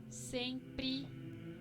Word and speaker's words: sempre: Por ejemplo, desde, sete, sempre, firme, forte, sobre.